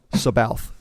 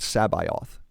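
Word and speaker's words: C'baoth: heir to the Empire how did you pronounce sabayoth sabalf sabath I did that's how I pronounce it okay cool I believe it was someone in I think it was his latest 2017 before someone asked zon at a convention directly how you pronounced it and Zahn said that he pronounced it sabioth yeah and he's expressed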